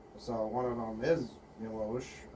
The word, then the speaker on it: Miłosz: So one of them is Miłosz, or Miłosz, I think is actually how it's pronounced in Polish.